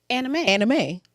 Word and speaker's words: anime: Anime.